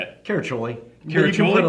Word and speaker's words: Caraccioli: Caraccioli.